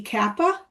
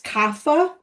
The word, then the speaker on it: kapha: I think I've been mispronouncing to a degree kappa. If you listen to someone say it that practices or an Ayurvedic doctor, it's kapha.